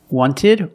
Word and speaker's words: wanted: wanted or wanted it's more common to hear Americans say wanted you have NT in the middle